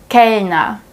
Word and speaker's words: Kellner: If the R is placed at the end of the word, it's also pronounced silently. Zum Beispiel, mir, mir. Kellner, Kellner. Computer, Computer. Awesome.